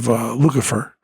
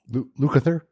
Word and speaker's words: Lukather: When Eddie Van Halen practiced a lot, or Steve Lukather, I didn't say his name right, did I? Lukather?